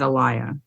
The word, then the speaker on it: Elia: a liar because because I almost thought she said Elias but it was a liar well if you uh heard that I can't remember how she pronounced it so we'll say a liar but it's a written e-l-i-a so yeah it works either way a bit a liar